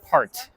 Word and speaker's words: part: 파트라고 발음 안 되고 그 영어에는 강세와 약세가 있는데 그거를 주의해서 발음을 해야 됩니다. part.